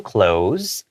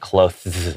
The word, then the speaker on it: clothes: It looks like it would be pronounced like clothes, like that, right? Because of the TH. Actually, just make that TH and imagine it as a Z.